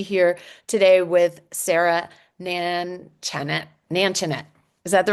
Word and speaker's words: Nanchanett: Nanchanett. Is that the right way to say it? Nanchanett, you were close. Nanchanett.